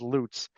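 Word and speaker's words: Lutts: case l u TTS sure that everybody pronounces L but but the parties actually call the parties actually refer to themselves as loots um they're I think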